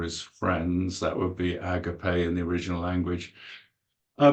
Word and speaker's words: agape: of love which is agape in Greek AG g a p e with an accent on the E Agape that means more